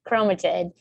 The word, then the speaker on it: chromatid: so an individual one remember it's not the way i originally said it is a chroma chromatid and so that is the way you pronounce it but when they come